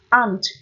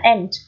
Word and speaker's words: aunt: Riêng có từ aunt hoặc là aunt, đúng chưa nhỉ? Đọc là âm A hoặc là âm E.